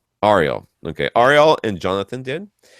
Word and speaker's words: Ariel: Whenever I've seen it, anyone with that name spelled that way, they've always said Ariel. Ariel.